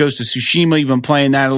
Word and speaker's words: Tsushima: I think it's Shima, but I don't know. Yeah, it's weird. It sounds like when you play the game, though, the Japanese people, I think, pronounce it Tsushima, which sounds a little bit more in keeping with the language, but I don't.